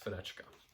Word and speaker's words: Fenechka: Nikolai gets married to Fenechka, I think is how you say that name. Yes, Fenechka.